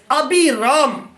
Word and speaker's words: Abiram: جانا پہچانا جاتا تھا۔ ابراہیم کو عربی تلفظ ابی رام، یعنی اس کا سپیل ہے ABIRAM، ابی رام، عبرانی میں یعنی ہبرو لینگویج میں ابی رام کہا جاتا ہے، جس کا مطلب ہے